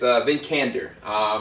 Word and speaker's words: Vikander: How do you pronounce her last name? It's Vikander.